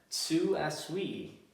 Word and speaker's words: Tsu Asui: Next up, Tsu Asui. That's proper Japanese pronunciation.